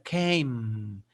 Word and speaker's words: came: Entonces el sonido completo sería came y la E no suena. Y debe terminar la pronunciación de came con la boca cerrada.